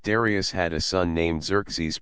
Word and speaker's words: Xerxes: had a son named xeres pronounced as if it began with a when I was a